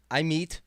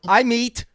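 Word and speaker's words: Amit: Basset Kennedy blades um I meet aore I meet say it right folks learn how to say it I meet okay I redeem myself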